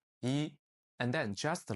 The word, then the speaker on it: 一: So, if the character yi appears alone or appears at the end of a word or a phrase, it's pronounced on this default tone, the first tone, yi.